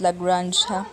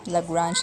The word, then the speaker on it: Lagrange: lagrange interpolation polynomial formula okay this it is pronounced as lagrange lagrange interpolation polynomial formula so this is still another